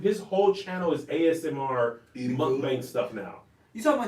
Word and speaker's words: mukbang: pronouncing korean things but i think it's mukbang i think i actually think it's mukbang oh man they ain't